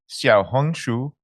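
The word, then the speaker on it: 小红书: Xiaohongshu. Okay, Xiaohongshu.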